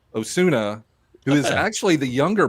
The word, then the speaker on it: Osuna: I think it's Aleandro Ozuna. Osuna, who is actually the younger brother of Yes.